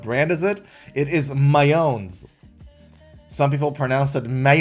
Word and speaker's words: Mayones: Now, some people pronounce it mayonnaise, like the sauce. But this is Mayones, I think.